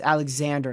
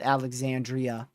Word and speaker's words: Alexander: It's Alexander, not Alexandria.